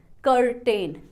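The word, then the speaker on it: curtain: इसको प्रोनाउंस किया कर्टन कर्टन मैंने कर वाले पार्ट को थोड़ा सा हाई पिच में बोला है कर्टन अब थर्ड लेवल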